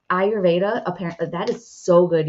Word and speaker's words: Ayurveda: kinds of things um ayurveda I always say that wrong I think I'm saying it right this time ayurveda Apparently that is so